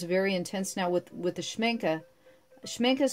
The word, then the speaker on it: Schmincke: And I'm gonna, the color is very intense now with the Schmincke is spelled, it's down below in the description. I'll have all the different materials that I used in this, but Schmincke is very intense.